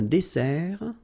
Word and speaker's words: dessert: So, remember that we've got here two S. Okay? That's the reason why you pronounce it S. And then it opens the dessert. Un dessert. So you don't say un dessert, okay? But you say un dessert. Final T not pronounced.